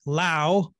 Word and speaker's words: Laos: recent study out of laos actually someone just told me you're supposed to call it lao the s is silent okay lao i did